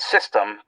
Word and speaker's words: Systeme: And it's called System, but it's spelled with an E.